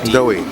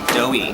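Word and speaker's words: Doii: Doughy. Doughy.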